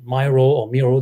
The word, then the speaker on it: Miro: And then Meccano came through another company called Miro, the way you pronounce it.